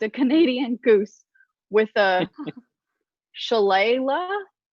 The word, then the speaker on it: shillelagh: I once drunkenly attacked a Canadian goose with a shillelagh. Shillelagh is correct. Shillelagh. What is it? It's pronounced.